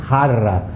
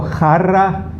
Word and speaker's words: jarra: Those who can't pronounce the he's pronounce it as harra, ha, like in ha, harra. Okay, so jarra, joya.